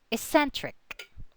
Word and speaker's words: eccentric: So according to the rule, the accent falls on the second, on the syllable just before the suffix. Eccentric, eccentric.